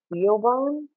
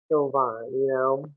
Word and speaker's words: Siobhan: Like say her name for Siobhan, Siobhan, Siobhan Siobhan.